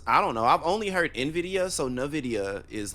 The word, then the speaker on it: Nvidia: to start off with Nvidia what did you think about nvidia's presentation um that's how you pronounce it I always said Nvidia but okay it is NVIDIA I'm I'm crazy oh